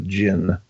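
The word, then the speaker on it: djinn: together a show on the gin you know that it's spelled DJI n N and that's a kind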